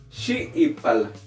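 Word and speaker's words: xiipal: Y aquí es shiipal. Shiipal. Shiipal. Como que hay un corte entre las dos i y se hace otra i.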